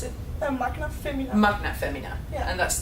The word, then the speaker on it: Magna Femina: No, thank you very much for tuning in, and please support these lovely ladies on the how would you pronounce it? Magna Femina.